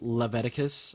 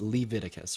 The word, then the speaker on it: Leviticus: sweet so yeah it's not pronounced Leviticus or however the you said it it's pronounced Leviticus right Leviticus right and so